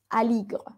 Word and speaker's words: Aligre: Pero acá, cuando termina en E la palabra, ella no se pronuncia, al final no se dice Aligre, sino Aligre.